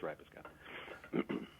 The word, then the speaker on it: Rapiscan: You got to consider a fruit or a vegetable. It's more ripe. It's kind of more pronounced with a ripe, a ray, or a ripe, depending on which regional accent you have. I think it kind of comes out differently, but it's Rapiscan.